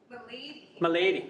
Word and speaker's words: Malady: Next up is Jessica, I'm going to say it wrong, Malady? Malady. Irish, So it's not like British. Not like disease or No, illness.